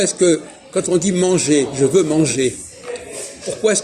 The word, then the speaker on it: manger: entend la consonne et comment ça se fait que quand on dit manger on n'entend pas le r c'est logique parce que